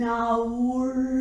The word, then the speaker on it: hour: I will say it half an hour ago. Okay? So I told you before that this R is not pronounced. Yeah, when I say 1 hour, in British English, this will be a silent letter.